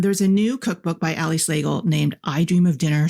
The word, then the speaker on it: Slagle: Hello, Slagle, rhymes with bagel.